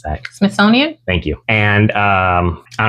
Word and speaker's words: Smithsonian: the Smithsonian almost maybe they did use the smithonian for this I can't pronounce that Smithsonian thank you and um I don't know it's